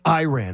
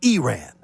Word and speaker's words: Iran: It's not pronounced Iran. It's Iran. Iran.